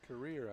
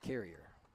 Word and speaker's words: Carrier: I've heard it pronounced 3 or 4 different ways. Career, I think, is what they corrected us the first time we played. But if you listen to the public address, he'll say Carrier.